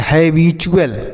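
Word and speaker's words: habitual: टू नहीं पढ़ेंगे चू पढ़ेंगे और ए एल को य और ल पढ़ेंगे तो इसे आप पढ़ेंगे हैबचुअल।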